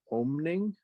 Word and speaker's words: Oeming: I'm not sure how to pronounce this person's name. To be honest with you, but it says that it's drawn by Michael Avon Oming. Oh, Michael Avon Oeming he's a veteran.